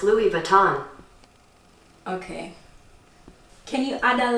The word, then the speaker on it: Louis Vuitton: That's pronounced Louis Vuitton.